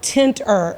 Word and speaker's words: Tentrr: So this past week, Lieutenant Governor Billy Nungesser launched a public-private partnership with a company called Tenter, and it's spelled Tentrr.